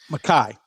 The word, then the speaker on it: Mekhi: As a top level first round pick, Mickey Becton, and or is it Mackay? Is that the It's correct Mackay, yeah. pronunciation? Okay, I always called him Mickey.